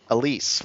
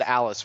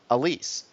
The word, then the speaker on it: Alys: I choose is Stephen please pronounce it Alys brangwin Alise right yeah or I always said Alice when I was a kid but Alise who is the um she's